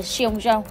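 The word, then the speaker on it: 送钟: bị coi là sukan thực chất từ tặng đồng hồ trong tiếng Trung có phát âm là xong Jong tương tự câu đưa tiện ai đó lần cuối Chưa kể việc hiển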